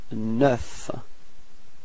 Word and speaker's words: neuf: And last but not least, you get neuf. Repeat. Neuf. Okay, so you pronounce the final F. Okay, and then E plus U gives you this E. Neuf.